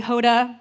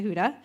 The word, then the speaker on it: Huda: People would call me Hoda, Honda, Hooters. Not sure how some of those names are similar to Huda, but I was done with it.